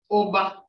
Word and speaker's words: Oba: Oba. This is not pronounced O. It is pronounced O. Put an attitude with that.